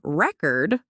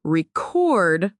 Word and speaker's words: record: want to buy a record, where is the emphasis? On the first syllable, re-cord, the noun. Exactly. Now, what about in I need to record my voice? On the second syllable, record, the verb.